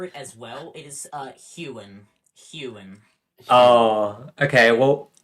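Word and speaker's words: Huon: It is Hewen. Oh, okay. Well, if it's called Hewen, why is there not an E in it? Why is there an O? It's weird pronunciation stuff.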